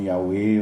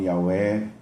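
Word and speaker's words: Yahweh: Eh, agora a pronúncia, uns falam Yahé, outros falam Yahwé, Yahvé, Jeová. Jesus deixa muito claro que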